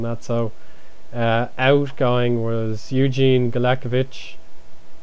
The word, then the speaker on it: Galekovic: Like, I pronounced his name wrong the whole time. I only realised when Emil Heskey clattered into him on this first day of the A-League season that his name is Galekovic, not Kalkovic.